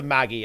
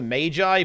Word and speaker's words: Magi: I always find that, I mean, that's obviously not how you pronounce it, but I view it as funny to pronounce it that way. Touch of the Magi, please, guys.